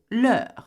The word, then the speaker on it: leurs: So the difference between the nos, vos, leurs, the last three, is instead of being notre, votre, leur, we say nos, vos, leurs. Leur being the same pronunciation regardless whether it has an S or not, okay?